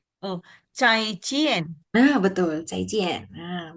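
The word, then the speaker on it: 再见: Nah, I dia dibaca yien jadi cai cien. Oh, cai cien.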